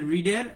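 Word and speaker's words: read: A book is, a book is, তারপরে রিডের ভি3 হচ্ছে রেড। এটা তিনটা ফর্মে সেম, কিন্তু উচ্চারণ কি হবে, রেড।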